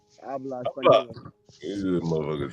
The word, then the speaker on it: habla: Habla. Habla español. This is a motherfucker said to me. Let's see. H is silent. Habla. Habla español, right?